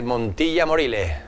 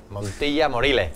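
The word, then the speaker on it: Montilla-Moriles: Y bien conocida, que es Montilla Morile. Montilla Morile. Claro, Morile. Morile. Claro, sin la S, ¿eh?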